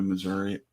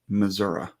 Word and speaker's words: Missouri: Drops is looking to go to Missouri or Arkansas. I was informed today that it's pronounced Missouri. Missouri?